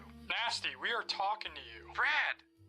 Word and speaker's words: Nast: Robert Nasty. Nast. The name is Nast. The E at the end is silent.